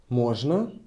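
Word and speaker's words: можно: we ask may I MOA we emphasize on o we raise our intonation Mo and the answer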